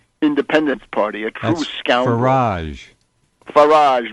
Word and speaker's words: Farage: Farage rhymes with garbage.